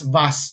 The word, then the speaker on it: vase: No, it's only what is visible to the eye that we can interpret this ah iyung mga British pronounce it as VAS, no? Vas influenced by the English.